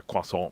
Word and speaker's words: croissant: Same as where we should say a quasant, we sort of say croissant or croissant, you know, but anyhow, it's enough of that.